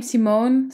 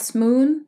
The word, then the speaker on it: Simone: So you pronounce it as how you would say my name, Simone. So not Smoon, as in the moon, but Simone style.